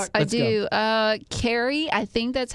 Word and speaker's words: Kyrie: She has it K Y R I E. Sure. I would say Kyrie, but she says it's pronounced like K E R I E.